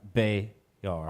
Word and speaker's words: Bejar: before we continue, we do have a performance by Shelly Bejar. Bayar. Bayar. Yeah, the J is silent. The J is silent. Yes. Bayar. Unlike Pfeiffer.